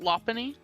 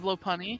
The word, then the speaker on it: Lopunny: I pronounce it Lopunny instead Yeah. of Lopunny.